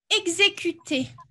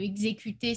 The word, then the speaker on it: exécuter: Et comme ça se prononce, ben, le exécuter, c'est pas un e muet, eh bien, on met un accent sur le et.